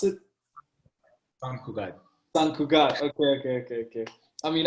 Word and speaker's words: Sant Cugat: Sant Cugat, how do you pronounce it? Sant Cugat.